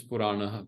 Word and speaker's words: purana: When you do the part, the purano becomes purana. Purana. is the way you pronounce it in the part.